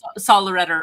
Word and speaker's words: Sollereder: Sollereder. Although that is not the German pronunciation, so who knows how it's really meant to be pronounced.